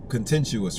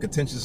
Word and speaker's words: contentious: as beliftings right now contentuous right I said that word incorrect that's the incorrect way to say it but contentious is the correct way to say it.